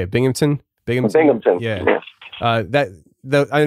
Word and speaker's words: Binghamton: uh bing bing how do you say it binghamton binghamton yeah uh that i know those are